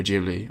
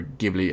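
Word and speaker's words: Ghibli: by the legendary Studio jibli or gibli however you want to pronounce it but nouni rat of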